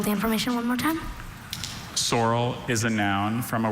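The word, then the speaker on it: saurel: Sorrel is a noun from a word that went from Greek to Latin to French. Sorrel means any of several elongated compressed fishes with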